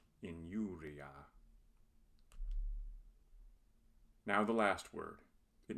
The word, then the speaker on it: injuria: When I occurs before another vowel, it is not a vowel but a consonant. It is pronounced like the consonant Y in English. Injuria.